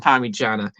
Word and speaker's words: Parmigiana: If you spell it out, it goes Parmi. Hey. No. The full name Parmigiana as an I, and it's pronounced Parmigiana.